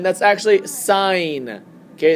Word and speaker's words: sin: Um, sin is not sin. That's actually sign. Okay. That is pronounced as sign.